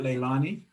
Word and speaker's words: Leilani: weekend well i love your name is that pronunciation right leilani yes that is correct and is it um